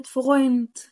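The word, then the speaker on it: Freund: كلمه زي كلمه فرويند، فروي، فرويند، فرويند، فرويند، فرويند.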